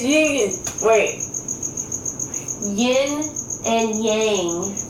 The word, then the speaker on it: yin: But every time I try to flip it around and say yin, then I can't say yang.